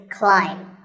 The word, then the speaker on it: climb: see on the screen the a i is an i sound not an a sound so the word is climb by the way what's